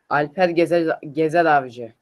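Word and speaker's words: Alper Gezeravcı: Alper Gezeravci.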